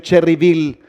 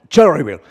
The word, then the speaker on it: Cherryville: No se dice Cherryville, se dice ¿cómo? Cherryville.